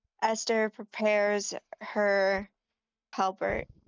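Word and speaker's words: halberd: Halbert. Halbert. Am I saying that right? Halbert. Is that the correct way to pronounce it? Halbeard.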